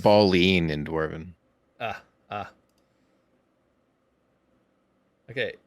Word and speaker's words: Balin: so forgive me uh every time I hear ball in I think of a dude for some reason I know that's wrong but all right I'm closing it up it's pronounced balling in Dwarven ah ah okay it's trickery all